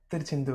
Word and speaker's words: Tiruchendur: This is installment number 2 with Kalyan from, I believe, Tiruchendur. Is that correct? Yeah, Tiruchendur. Okay. Oh, Tiruchendur. Okay. So my pronunciation is also getting better, I know.